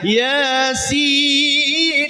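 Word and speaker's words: يس: Dikasih tahu, ibu Yasin itu ya-nya 2 harokat ya. Yasin, sinnya 6 harokat. Karena jadi mad lazim harfi musbah mukhaffaf.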